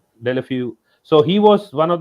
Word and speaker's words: Deulofeu: I think I Deulofeu, yeah, pronounce Delafiu.